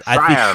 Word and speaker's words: Schreier: I think he's Schreier like fire.